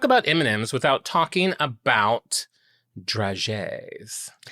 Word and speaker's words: dragée: It's draggy? It's draggy. It's got a thing over the first E. Uh-huh. And I looked it up. It said dragée.